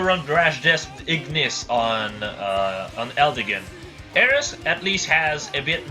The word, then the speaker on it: Eris: before saying Eris, but a lot of people are going to be like, it's Ares! Sorry, I'm French, and the way we pronounce it in French is Ares. The E is just a different sound, so I prefer saying Eris. It just sounds way more natural to me, and just overall better, let's be real.